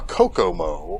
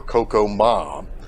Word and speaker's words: Kokomo: So he named it after the orneriest Indian on earth, Ma Kokomo, or Kokomah. His name is pronounced in multiple ways.